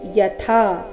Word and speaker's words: ಯಥಾ: ದೇಹಿನೋಸ್ಮಿನ್ ಯಥಾ ದೇಹೆ ಕೌಮಾರಂ ಯವ್ವನಂಜರಾ ತಥಾ ದೇಹಾಂತರ ಪ್ರಾಪ್ತಿ ಧೀರಸ್ತತ್ರನ ಮುಹ್ಯಯ್ಯತಿ ದೇಹಿನೋಸ್ಮಿನ್ ಯಥಾ ದೇಹೆ ದೇಹಿನೋಸ್ಮಿನ್ ದೇಹಿನೋ ಸ್ಮಿನ್ ಸ್ಮಿನ್ ಅಂತರ ಅರ್ಧನ ಸ್ಮಿನ್ ಯಥಾ ಥ ಇಲ್ಲಿ ಮಹಾಪ್ರಾಣ ದೀರ್ಘ ಯಥಾ ಅಂತ ಬೇಡ ಯಥಾ ಎಂದು ಬರಬೇಕು ದೇಹಿನೋ ಸ್ಮಿನ್ ಯಥಾ ದೇಹೆ